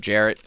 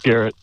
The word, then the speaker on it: Garrett: What's up, Jarrett? Hey, it's Garrett. Troy thought it was a J pronounced like I thought his name was at first.